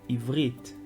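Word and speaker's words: עברית: Então as pessoas pronunciam ivriti. O certo é pronunciar ivrit, ivrit. Então o som do T no final ele vai ser mudo e vai ser um som de T, T, ivrit, e não ivriti.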